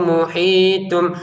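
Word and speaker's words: مُحِيطٌ: Tun kita baca tum. Kenapa? Karena di depannya ada ba.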